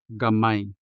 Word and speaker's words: gamay: Just like in the word gamay, stress on the second syllable, which means small in terms of amounts or number or size.